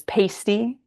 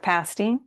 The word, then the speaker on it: pasty: The fact that tourists often mispronounce the word as pasty instead of pasty is something that Yoopers like to joke about with each other.